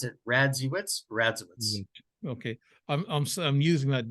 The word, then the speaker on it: Radziewicz: Evans show uh the uh strange reality radazovich or wisks I say vich I keep that's